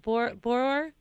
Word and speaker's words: Borror: And how do we pronounce Brooks's last name? Is it Borror? Just Borror, B-O-R. Borror.